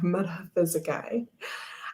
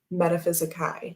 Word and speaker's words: metaphysicae: Robin says, so happy you share my pronunciation of metaphysicae. I Googled the Latin pronunciation for words with the A-E combination, and that was correct. Metaphysicae, not metaphysicae, as Dustin says it.